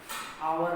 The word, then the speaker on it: hour: हा, अब इसमें इसका सही उच्चारण का half, half, a half, an hour, आवर में एच साइलेंट है, क्या रहता है साइलेंट, क्या आएगा आ गया